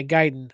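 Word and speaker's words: Gaiden: They're going to be talking more about Ninja Giden or Yeah, Giden. I said it right.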